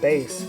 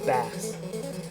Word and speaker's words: Bass: just um just mentioning a base um is this commonly uh mispronounced as uh bass and uh and it